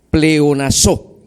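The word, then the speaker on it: πλεονάζω: Esa palabra abundara es de la raíz griega pleonazo, con acento en su última vocal, pleonazo, que quiere decir aumento.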